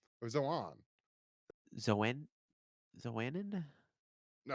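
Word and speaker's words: Xoanon: face and dealing with uh how do I pronounce it the the the main Computer Guy Z Zan Zohan right Zohan or Zohan zanan is it Zan no it's not zanan no is it Zan no it's Zohan or Zohan Zan zanan no it's not zanan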